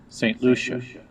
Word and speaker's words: St. Lucia: Did I pronounce it right? St. Lucia.